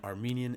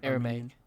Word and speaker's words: Aramaic: New Testament was Greek and Armenian. Am I pronouncing that right? Aramaic.